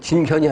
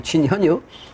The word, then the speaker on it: 진현: 임금 나아가서 빌 때여 진견이 아니고 진현이 진현 근데 진견이 이제 책이 써 있죠 기 진견이 아고는 나갈 진짜 어 실제로이 불자인데 요거는 배일 현자 뱉는다 배일현음 현이라고 읽으면 안 돼요 현이라고 읽으면 임금을 뵙는 건 현이야 그래서 현인이 재전이는 할 때는 어 어 그 견자 현자로 읽을 때가 이제 종종 있는 거예요 인분을 징계할 때는 진중함을